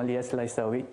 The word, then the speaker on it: Lyes Laissaoui: ceux qui se demandent comment on prononce c'est mon nom c'est tout simplement li laaou parce que j'ai j'ai